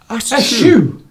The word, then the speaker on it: eschew: It sounds a bit like a sneeze, as a lot of people have said. Yeah. Eschew!